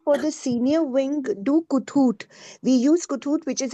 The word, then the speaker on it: Kahoot: Actually, I had referred to, I didn't know it was pronounced Kahoot.